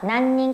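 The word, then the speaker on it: 何人: 몇 명, 난닌이라고 읽어요. 그래서 몇 명입니까? 난닌 가족 데스까?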